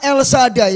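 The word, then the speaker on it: אל שדי: Ah, Bapak, Ibu, Saudara yang dikasihi Tuhan ini bacanya Elsadai.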